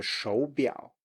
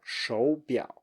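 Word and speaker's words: 手表: And then finally we have 手表, 手表. So you can hear that I go up, 手, 手, like a second tone, and then low, 手表.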